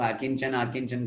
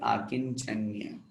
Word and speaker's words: आकिञ्चन्य: आकिंचन्य, बहुत से लोग आकिंचन आकिंचन करते हैं, गलत है वो शब्द, शुद्ध उच्चारण हमें आना चाहिए आकिंचन्य।